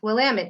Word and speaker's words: Willamette: of this area and it goes like this it's willamette damn it that's it but this